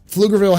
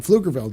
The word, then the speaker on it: Pflugerville: a local um um Pflugerville has a has like a I think it's like a p in front of it it's like PF is how you say it but the p is silent so um there's a